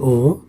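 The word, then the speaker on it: を: যেমন নানি ও নমিমাস্কা, নানি নানি ও ঠিক উচ্চারণ হচ্ছে ও, নানি ও নমিমাস্কা, নমি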